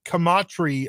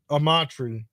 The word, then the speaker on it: Amatri: They land a coveted high school running back, Corey Kamatri, I believe is how you say his name. I think it's Amachri. Amatri. Amatri. Okay. Yeah. And no C at the beginning.